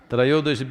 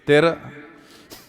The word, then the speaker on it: Trayodashi: North Indian people must connect, don't go on clipping away one syllable and come Dhanavantari becomes Dhan, Trayodashi becomes Tera. Don't keep clipping it away So, here we are.